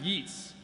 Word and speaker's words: Yeats: And now on a more literary note, I'd like to read a poem by the great W.B. Yeats, which is actually pronounced Yeats. A lot of people don't know that.